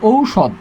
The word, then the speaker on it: ঔষধ: দ হসন্ত, ঔষধ। উচ্চারণ কী হবে? ঔষধ, উচ্চারণ কী হবে?